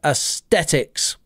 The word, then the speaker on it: aesthetics: we are talking about athetics look at the pronunciation there Aesthetics we're going to talk